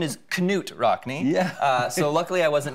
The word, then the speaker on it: Knut Rockne: I am named after, I believe the pronunciation is Knut Rockne.